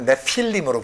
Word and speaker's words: 네필림: 원래는 네피림이 아니고 네필림으로 발음을 해야 돼. 히브리 원문은 네필림. 네피림이 아니고 네필림. 이 네필림이 뭘까?